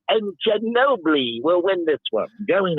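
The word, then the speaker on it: Ginóbili: Because he was calling Ginobili Gino Billy through the first 4 calls of the race,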